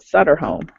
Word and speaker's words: Sutter Home: brand that is definitely supporting a breast cancer pronounced sutter home exactly I thought so too and my t-shirt